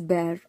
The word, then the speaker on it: bare: is cruel okay huh this word is bear b-a-r-e is bear uh there is also one more bear uh but here the